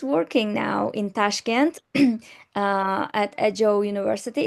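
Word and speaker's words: Ajou: Okay, so he's working now in Tashkent at Ajo University. Is it Ajo or AGOU? Aju, yes. Aju, okay, Aju University.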